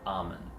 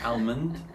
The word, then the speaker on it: almond: That's how it's spelled. That A-L, sound. You would think it's in there, but it's not. It's a trick. Don't listen to it. Don't trust it.